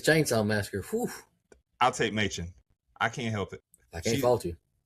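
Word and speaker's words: Mädchen: Her name's spelled Madchen, but I saw that it's pronounced Machen.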